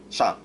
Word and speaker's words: Shang: Um, like a lot of times, most people just say "sang," not "shang." I mean, I don't even know if you could hear the difference, but because the reason is that there's no other word in Chinese that is "sang," which is the reason why